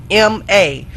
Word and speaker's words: Ganoderma: Google it for yourself, and it is spelled exactly like it sounds. Ganoderma.